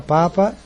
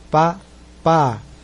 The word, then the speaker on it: Papa: O P, que antigamente em 54 era Paris, passou para Papa e permaneceu com o segundo teste como pá, pá.